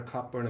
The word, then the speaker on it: Cockburn: So maybe it's pronounced Coburn. Coburn. It sounds so much better, Cockburn, in my mind for some reason. It's Scottish. Coburn. You should know. Scottish. You see, I'm Irish.